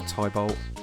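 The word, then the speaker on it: Tybalt: H we have Tybolt or Tibol if you're a stickler for pronunciation.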